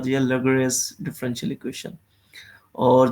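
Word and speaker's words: Laguerre: ऐसा कोई नाम है लगस जिसको प्रोनाउंस कुछ इस तरह करते हैं लिंगराज नहीं है ये यह एल ए जी यू E double R एस लेग लगस ठीक है जी जी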